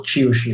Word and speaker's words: Qiushi: excerpts from a magazine called Qiushi, or Qiushi if you're pronouncing it in proper Mandarin, which is the official CCP's magazine.